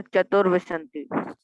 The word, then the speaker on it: चतुर्विंशति: सर चतुर्विंशति। फिर से उच्चारण करना। सर चतुर्विंशति। चतुर्विंशति। चतुर्विंशति। चतुर्विंशति। चतु नहीं, चतुर्विंशति।